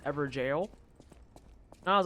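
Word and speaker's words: Evergaol: I was calling it an ever goal and then I think it was like week two or so that someone came through and was like no this is pronounced ever jail and I was like oh that's interesting and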